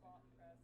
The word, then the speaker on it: Botpress: No, BotPress, like bot, like Okay. BOT.